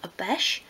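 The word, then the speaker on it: obeche: And for this I've used, again, my favourite wood to use, a beche, which is spelled O-B-E-C-H-E.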